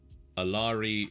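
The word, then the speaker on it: Alari: thought were Cults um aari rhymes with fairy AAR AAR rhymes with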